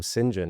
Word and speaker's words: St John: automation in my instances, my name Singinjen is spelled ST space John. So these bots can never quite it's always sync. So I'm like okay if it's a saint email then I know it's automated.